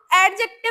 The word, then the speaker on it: adjective: तो एडजेक्टिव में क्या होता है ना? एडजेक्टिव नहीं बोलते हैं। एडजेक्टिव एडजेक्टिव यानी डी यहां साइलेंट होती है।